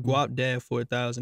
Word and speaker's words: Guapdad 4000: So let me ask you this: let's talk about the artist Guapdad 4000. That's how you say his name.